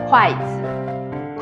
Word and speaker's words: 筷子: The better translation is just 筷子. 筷子. Well, to be honest, the pronunciation of 子 is a little bit tricky to foreigners.